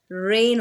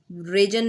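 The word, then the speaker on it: reign: डी हमारे पास है रेन, रेन होता है, रेजन नहीं होता या रेजन नहीं होता।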